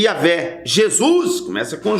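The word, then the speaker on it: Yahweh: que vem o nome é yavé começa com com Y que trazendo para o português é Javé ou Jeová a letra J ela se pronuncia do hebraico com com i ela a pronúncia com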